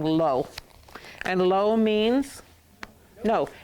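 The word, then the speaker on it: לא: Okay, but this is this typical way of spelling lo. And lo means no. It rhymes with no.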